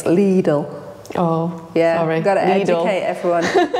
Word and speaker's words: Lidl: It's Lidl.